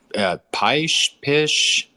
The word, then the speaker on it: Pysh: Is it Pysh? How do you pronounce that, Preston? Yeah, Pysh.